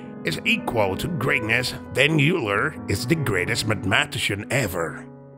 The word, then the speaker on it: Euler: carried out between 1730 and 1780 which solely Euler's work although he went completely blind at age